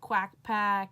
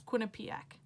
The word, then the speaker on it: Quinnipiac: heck is Quinnipiac like it's a weird name no one knows how to pronounce it quack pack Quinnipiac Q pack Quinnipiac what like no one knows how to pronounce it it's Quinnipiac so pretty much I